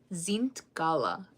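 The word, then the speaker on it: zintkála: So bird is zint. Try to zint gala. So you have to kind of say it with like an N sound, but you're not saying the N.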